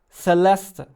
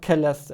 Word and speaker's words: Celeste: it I like it Celeste not Kellis area sorry I was pronouncing it with my stupid German pronunciation also this exact level